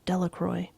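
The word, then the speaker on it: Delacroix: Harry Jones and Dicky delaqua the villagers pronounced his name Delroy eventually made a great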